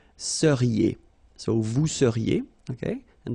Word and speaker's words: seriez: Vous seriez. So here when you've got this Z at the end, then you get the sound E, seriez.